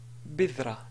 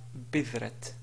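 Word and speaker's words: بذرة: Parce qu'en fait, la ta, ici, si on veut s'arrêter sur la ta, on va dire bidra et non pas bidrat.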